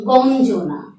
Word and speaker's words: গঞ্জনা: শব্দটি লেখাই আছে, উচ্চারণটি দিচ্ছি গঞ্জনা, গঞ্জনা, গঞ্জনা।